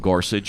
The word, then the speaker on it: Gorsuch: Am I pronouncing that correct? Gorsuch is correct.